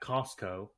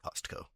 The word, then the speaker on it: Costco: You know, I actually appreciate that you pronounce the tea at Costco. Costco. Yeah, I also pronounce the T kind I don't